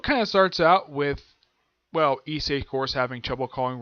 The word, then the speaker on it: Issei: I call him Issei because that is how they pronounce his name in the English dub, so that is why I'm calling him that.